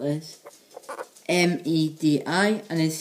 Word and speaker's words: Medi: September in Welsh is spelled as M-E-D-I, and is said as Medi.